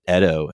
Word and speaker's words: Edo: It takes place in the Edo period, which is, I always thought it was pronounced Edo, but they pronounce it Edo in the show.